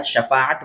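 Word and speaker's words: شفاعت: गलत तालाब हो जाए शीन के जहर के साथ नहीं है बल्कि शिन के zabard के साथ shafahat बोलना चाहिए तो हर नबी के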